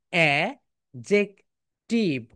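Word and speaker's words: adjective: অ্যাডজেক্টিভ, কিন্তু right pronunciation কি বলতো? অ্যা জেক। বলো অ্যা জেক টিভ।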